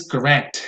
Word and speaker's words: correct: All right, the next one is correct. It's an adjective. That answer is correct, the correct answer. And so the stress will always go on the second syllable and not on the first.